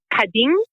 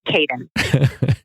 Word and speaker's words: Kapin: In Turkish, it's pronounced Kapin, but I didn't think that we would be able to push that, so it's Kapin.